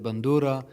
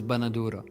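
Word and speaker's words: بندورة: So he said bandura, and the word, the Syrian pronunciation, as they claim, is banadura.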